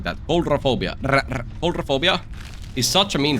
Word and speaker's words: Coulrophobia: And like genuinely, Coulrophobia is such a What the Why did I say it like that? Coulrophobia Coulrophobia is such a mean perk and it's